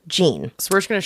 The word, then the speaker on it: Jeanne: it could be Jen it could be whatever number there's so many pronunciations of this so I'm going to call her Jean so we're just going